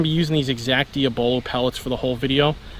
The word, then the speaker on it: diabolo: me on the pronunciation this is diabolo not Diablo Oh and before I